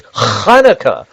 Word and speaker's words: Hanukkah: middle eastern i said she's not pronouncing right it's hanukkah you gotta say it right but i'm glad you